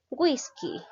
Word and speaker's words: whisky: n s o vocal whisky la mayor fuerza de voz recae la sílaba wish no la llegó a